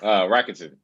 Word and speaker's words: Rakuten: How do you pronounce it? Rakuten.